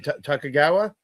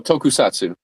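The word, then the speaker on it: tokusatsu: Takagawa. Uh oh. Tokusatu.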